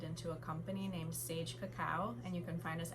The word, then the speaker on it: cacao: not cocoa, it's cacao, and that is the 100% pure form of what we know as chocolate, or the tree where chocolate comes from.